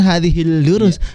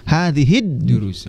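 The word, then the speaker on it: هذه الدروس: Jadi bukan hadhil durus, hadhid durus.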